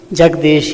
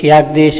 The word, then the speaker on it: Jagdish: And they don't know how to pronounce our name, Jagdish, Yagdish, etc.